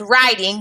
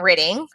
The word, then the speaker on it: riding: grandpa was riding so drop the e at ing because it's pronounced riding not ridding to town on a horse